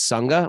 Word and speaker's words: Sangha: And Sangha is SANGHA. Like Sangha. Yes, because it's Mahaprana Ga. Yes, in Sanskrit.